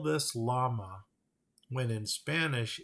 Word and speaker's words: llama: I ask you again why do we call them llamas okay I digress chickens